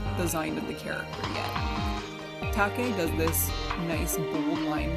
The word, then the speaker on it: Take: official Pokemon artwork done by artists Kenugori and Take. It's not taped, by the way.